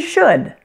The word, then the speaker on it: should: their wood could and should there are three things that you need to watch out for when pronouncing these words the first thing is that the L is silent notice that wood wo